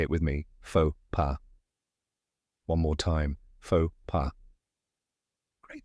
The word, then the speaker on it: faux pas: down step by step the first part is fo which rhymes with go and the second part is p which sounds like P in Papa now say it with me fa PA one more time FAA